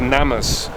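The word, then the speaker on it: gnammas: name from there called I think the G is silent called NamUs which is an Aboriginal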